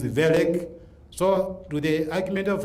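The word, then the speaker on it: Wellek: You don't read it Welek, it is Welek.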